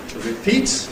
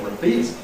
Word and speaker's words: repeat: We say ‘to repeat’ /rɪˈpiːt/. Notice the prefix spelt ‘re’ is /rɪ/. Some people say /rə/, but it’s a weak vowel. /rɪˈpiːt/ or /rəˈpiːt/.